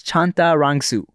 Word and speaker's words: Chantarangsu: correctly sure sure so it's exactly like it's spelled except all the A's are I's so it's chanta rangsu and um you know